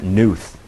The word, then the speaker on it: Knuth: school dean's name is barb k-n-u-t-h and she pronounces it newth which to me is